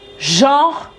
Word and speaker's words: genre: Et souvent, on va le prononcer rapidement. Donc, en fait, on va pas dire genreux, on va dire genre. Limite, c'est genre J-O-R, quoi. Genre.